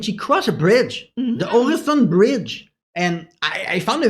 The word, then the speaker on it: Øresund: Help me out, pronunciation wizard. Øresund. Øresund, I'm sorry.